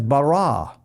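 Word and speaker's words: ברא: They pronounce it as bara.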